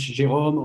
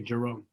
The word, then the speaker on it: Jerome: So like I said in French, Jerome, or in English, American English, they say Jerome.